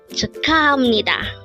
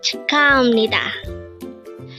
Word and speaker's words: 축하합니다: Again, it's 축하합니다. But take note, even though the spelling of the third syllable is that of hap, it is still pronounced as ham because the next syllable to it is ni.